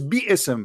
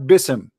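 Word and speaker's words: بسم: There's no in Arabic, there's no word in Arabic is bism. It is biism, not bism.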